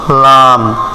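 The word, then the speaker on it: لام: আনবো calf calf একটু ট্রাই করেন কাফ তারপর লাম লাম কিন্তু আমরা সোজা ভাবে লাম উচ্চারণ করি লাম এখানে হবে জিহ্বার আগার কিনারা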